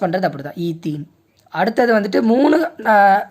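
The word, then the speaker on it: ethene: ஈத்தீன். Pronounce பண்ணுறது அப்படி தான், ஈத்தீன்.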